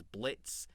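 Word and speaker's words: Blitzø: I think Brandon Rogers is excellent as Blitz. The O is silent.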